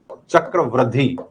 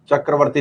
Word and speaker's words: चक्रवृद्धि: चक्रवृद्धि, चक्रवर्ती नहीं है, चक्रवृद्धि है, मैं बार बार इसका गलत उच्चारण कर रहा हूं, चक्रवृद्धि ब्याज।